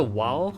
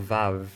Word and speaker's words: vav: It's it's it's either Wow or Vav.